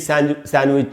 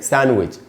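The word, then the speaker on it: sandwich: उसके बाद दोस्तों सैंडविच, अब हम खाते हैं सैंडविच, cheese सैंडविच, chicken सैंडविच सब लोग खाते हैं, इसको भी सैंडविच नहीं बोल सकते क्योंकि इसमें डी साइलेंट होता है, तो इसको पढ़ेंगे सैंडविच।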